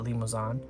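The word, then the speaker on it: Limousin: I assume it sounds it looks like it's spelled like it's French, so I think you would pronounce that limoan.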